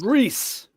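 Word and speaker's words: Rhys: even look like him Matthew Rice I believe is pronounced reys right Chang your name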